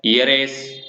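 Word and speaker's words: heiress: Honest में भी same यही बात कि एन ऑनेस्ट मैन, और ईयर, ईयरेस, ऑनरेबल और ईयरलूम। तो ये साइलेंट रहता है इनमें एच, तो इन वर्ड्स को आपको ध्यान रखना है।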